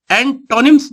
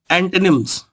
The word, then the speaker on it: antonyms: एंटोनिम्स बोलते हैं लोग, जबकि इसका करेक्ट प्रोनाउंसिएशन है एंटोनिम्स।